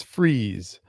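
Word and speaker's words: Freas: Um, someone told me recently that it's Freeze. Yeah, for a long time, but Freeze, I think, is how it's pronounced.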